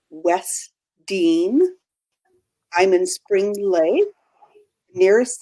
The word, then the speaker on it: Wesdyne: down so I'll start my name is is pronounced West Dean I'm in Spring Lake